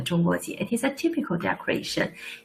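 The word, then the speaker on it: 中国结: You can practice your pronunciation. 中国结.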